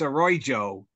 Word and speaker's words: Arroyo: Karen, you pronounce that name wrong. It's Arroyo.